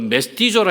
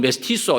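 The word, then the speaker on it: mestizo: 거기 보면은 이제 그 메스티조라 해가지고 멕시코 사람들, 본래 멕시코 이제 인디안들하고 유럽에서 넘어온 사람들하고 혼혈족이 이제 메스티조 혹은 메스티소 이렇게 발음합니다.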